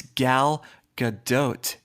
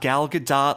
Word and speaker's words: Gal Gadot: again that is wrong it's Gal Gadot you can even give it some Israeli flare Gal Gadot G G good doe it's not gal good dot like Dipping Dots it's G good doe you have Dipping Dots